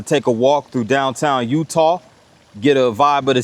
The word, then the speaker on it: Eutaw: Now, Utah, pronounced similarly to the state of Utah, is a sea is a city in Green County, and it's also the seat of Green County.